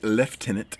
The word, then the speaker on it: lieutenant: was promoted to the rank of lieutenant or as the Brits say left Tennant in 1916 Wilfred Owen